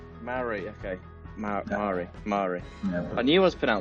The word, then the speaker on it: Mare: Actually, it's Mare. Mare, okay.